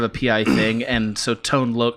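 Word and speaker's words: Tone Lōc: pi thing and so tone look are you sure it's tone load is that really true tone look 100 percent okay wow i should have been completely saying it wrong my entire life would you i'll accept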